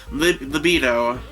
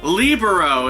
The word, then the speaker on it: libero: He is the libido. Is that right how you say it? No, sorry, not libido, oh my gosh. Libero.